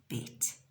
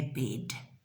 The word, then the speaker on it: bed: And remember I said it's spelt with a D, but we pronounce it, and I'm just going to put a little one up there. We say it as bed. We don't say bed like we do in English.